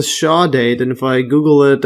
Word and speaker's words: chordate: to make a note here and uh this cord date I've been calling it cord date if you check the pronunciation sha date yes say shaw date and if I Google it or the pronunciation